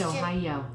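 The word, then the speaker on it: おはよう: head slightly as you say ohio which is pronounced oh yo when you're in a more formal situation or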